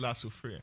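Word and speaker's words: La Soufrière: the alert to orange for the volcano in la superior that's that's how you pronounce it shandy yes lasso freya yes in the key thing that it could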